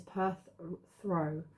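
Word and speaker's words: Perthro: and it says pronun the pronunciation is Perth throw meaning cup or container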